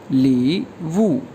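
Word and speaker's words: 礼物: इसके बाद वर्ड है गिफ्ट या प्रेजेंट को चाइनीज़ में कहा जाता है ली वू, LI third tone, WU four tone, ये प्रोनाउंस होगा ली वू, ली वू, ली वू, ली वू कहते हैं गिफ्ट को।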